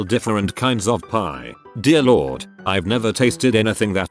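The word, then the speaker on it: leeward: Like Leewood is pronounced Lord and Bosan is pronounced Bosan.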